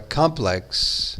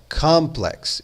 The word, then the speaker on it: complex: Na palavra complex em inglês, a ênfase ou stress tem essa ideia de ênfase no inglês, é colocada na primeira sílaba. Então você fala complex e não complex.